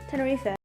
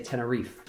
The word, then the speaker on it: Tenerife: But in the UK, in England, we just say Tenerife. Tenerife. Okay. Tenerife makes more of a sense. E gets silent.